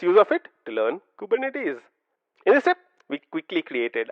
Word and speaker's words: Kubernetes: interesting fact is the fact that kubernetes is pronounced Ed as kubernetes kubernetes kubernetes say that a few times practice this a number of times the next time you see a friend of yours saying kubernetes or something like that say nope you should